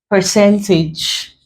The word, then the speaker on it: percentage: Let's say percentage. We break into syllables. Percentage. So this middle syllable is the one before last. That gives us percentage.